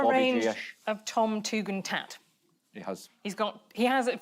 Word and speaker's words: Tugendhat: How do you say it? Tugendhat? Tugendhat. Yeah.